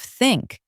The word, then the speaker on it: think: At first, I said tink instead of think, but I looked at the mirror and corrected it. Tongue between teeth.